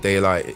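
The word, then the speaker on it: Daylyt: But lyrically, lyrically, no one can deny that Daylight is lyrically talented for sure.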